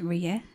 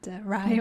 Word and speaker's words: Rie: Advice or Advice, message, anything of I just like to say my name is Rie, not Rai or Rie.